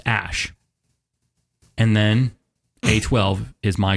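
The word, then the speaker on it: Æ: I mean, it's just X, the letter X, and then AE, it's pronounced Ash.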